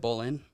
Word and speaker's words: Boleyn: an up and cominging is it Bolan yeah like the Bolan sisters oh perfect okay I